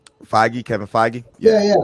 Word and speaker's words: Feige: Feige, Kevin Feige, Yeah, yeah.